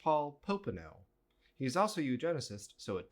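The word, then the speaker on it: Paul Popenoe: was eugenicist like pretty openly eugenesis and so paulone Paul pone editor note his name is pronounced Paul poeno he's also eugenicist so it doesn't [ __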